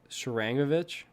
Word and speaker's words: Sharangovich: Like, I feel like Sharagonovich or whatever. How do you pronounce it? Sharangovich.